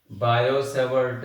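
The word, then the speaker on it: Biot–Savart: T silent होता है भाई। बायो-सेवर्ट लॉ, बायो-सेवर्ट लॉ देखिए भाई, बायो-सेवर्ट लॉ में एंगल क्या कहां आता है, कैसे आता है।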